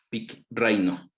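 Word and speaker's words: πικραίνω: griego peek compartí reino pic reino el acento en la segunda y pitt reino y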